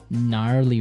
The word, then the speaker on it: gnarly: Gnarly run. Yeah, gnarly. So an interesting word, it's spelled Gnarley.